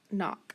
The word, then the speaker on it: knock: somebody underline it and that k is going to get marked off what else do i have i've got c k that's right and i've got to mark off that c and then my o is in front of c k remember any vowel in front of ck is always going to be short so knock so i've got knee